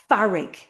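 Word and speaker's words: fearg: Tá áthas Tá farrig Farrig. Farrig is anger. It's so plosive, frustrated. Tá farrig Again, we hear epenthesis, the addition of a vowel sound. So it sounds like two syllables.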